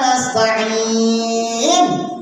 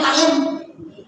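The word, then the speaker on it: نستعين: Iyyaka na'budu wa iyyaka nasta'in. Ujungnya in. Bacanya ta'in.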